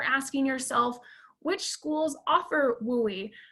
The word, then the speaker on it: WUE: state of washington is wui that western undergraduate exchange we is indeed how it's pronounced uh hopefully after this